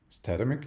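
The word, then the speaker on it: Statamic: we'll take a look at that Timex datamic statimic yeah that's how it's pronounced version two and that's a static site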